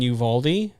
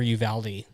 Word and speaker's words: Uvalde: yeah for sure so I've either been in Uvalde yeah or Uvalde it really depends on who you're talking to so I I would